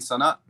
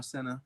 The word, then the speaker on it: Sana: He was like, "No, you mean Sana?" And I'm like, "No, Senna, right?" He's like, "No, Sana, right?" And I'm like, "No, Senna, right?" So he's trying to correct my pronunciation.